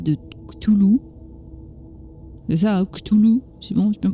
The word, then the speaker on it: Cthulhu: C'est ça, hein, Cthulhu, c'est bon, j'ai bien prononcé cette fois-ci.